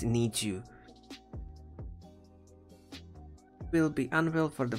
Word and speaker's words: NiziU: you will i'm sorry i'm always pronouncing them an easy way i know it's need you will be unveiled for